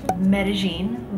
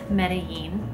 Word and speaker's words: Medellín: And yes, it is pronounced Medellín by locals, not Medellín.